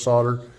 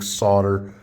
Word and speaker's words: solder: Okay, now the last thing is it's pronounced solder. It's not solder. Been watching Alex Steele a bit much. You might be trying to pick that up, but that is not the correct way to say solder. It's not solder, it's solder.